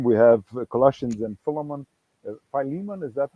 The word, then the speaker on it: Philemon: by Robert Stein we have Colossians and Philemon Philemon is that how you say it in English normally Philemon up here yes by Greg Bill and then